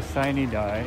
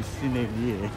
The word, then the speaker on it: sine die: I think what they call sine die, or the last day, is in early May. I never liked the way they pronounce that, because it should be sine die, it's Latin, but who am I?